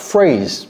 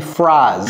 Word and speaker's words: phrase: Vous voyez comment je prononce ça? J'ai pas dit phrase. Phrase.